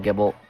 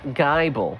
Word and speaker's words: Gibble: is the pronunciation of Gibble so Gibble not Gible I need a need to have a word with whoever it was that I heard say Gible although some mispronunciations can be